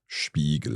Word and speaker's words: Spiegel: Yes, there is an exception for when a word starts with SP or ST, then it's pronounced as sh. Spiegel.